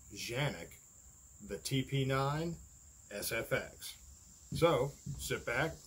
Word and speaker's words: Canik: to be looking at a pistol called the Canik, or as they say it's pronounced, Canik, the TP9SFX.